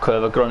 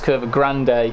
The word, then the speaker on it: Curva Grande: It's not Curva Grunt, it's Curva Grande.